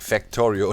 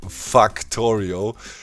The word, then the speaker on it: Factorio: Pretty much it's like Factorio. Last time I said Factorio. In German you would pronounce it like that. Factorio. A is A.